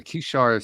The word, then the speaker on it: Kishar: Tell us about the Kishar Spiritual Community. That's perfect pronunciation.